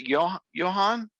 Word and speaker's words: Johan: Is it Johan?